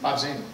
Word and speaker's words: Bobzien: We have David Bobzien. Did I pronounce it correctly? Bobzien. Oh, okay, so the E is silent.